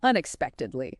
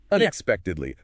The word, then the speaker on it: unexpectedly: They announced the results unexpectedly. Long one stress on peek unexpectedly. Break it down unexpectedly.